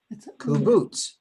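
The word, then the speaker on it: קֻבּוּץ: Kubutz. Very good. Boots. Kubutz.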